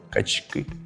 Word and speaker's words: качки: не здивуюсь якщо правильно качки другий варіант Так це правильно бо у іменниках у множині наголошується останній склад тому качки Ми продовжуємо навчання у